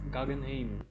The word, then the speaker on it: Guggenheim: Uh, Guggenheim, তার উচ্চারণটা Guggen, কি? Guggenheim, Guggenheim and John Jacob Astor Astor 4.